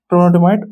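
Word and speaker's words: trondhjemite: कौन सा, टोनालाइट, ट्रोनोडिमाइट, इसको ये डी और ये एच और जे इसमें साइलेंट आ जाता है, ट्रोनोडिमाइट और ग्रेनोडायोराइट, ये ग्रुप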